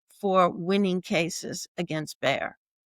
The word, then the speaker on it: Bayer: It's just pronounced Bayer in English.